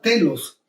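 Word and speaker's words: τέλος: A su vez, esta palabra teleios proviene de un adjetivo griego que pronunciaríamos de esta forma, telos, y que significa ponerse una meta.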